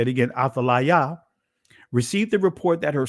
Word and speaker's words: Athaliah: So when the queen and mother Athaliah, or Athaliah, right, I'll say it again, Athaliah, received the report that her son Uzziah, in